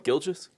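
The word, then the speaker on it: Gilgeous: Gilgis.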